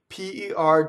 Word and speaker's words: per: Per doesn't rhyme with the fruit or a pair of socks. It's per.